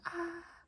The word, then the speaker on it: Å: So to pronounce A, you would imagine that someone scared you. You go ah, ah, ah. That's the A sound. A. Like someone just scared you really bad. Ah.